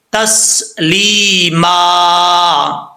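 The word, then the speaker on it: تسلیماً: آگے سرکل آ رہا ہے، جب وقف کریں گے تو ایک دو زبر کے بعد الف آ جائے تو الف پڑھا جاتا ہے. ٹھیک ہے، تو کیسے پڑھیں گے، تسلیما.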